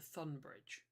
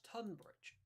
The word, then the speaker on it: Tunbridge: I just called it Thunbridge. Since when did you Yes, you did. pronounce? Since when did that? Well, since when was that Thunbridge? That's Tunbridge. Tunbridge.